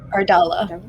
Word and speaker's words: Ardala: Ardala. Ardella.